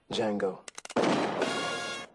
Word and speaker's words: Django: attention what's your name Jango the D is silent yes the D is